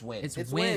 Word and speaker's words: Nguyen: win win win it's win it's pronounced win for sure it's win it's bro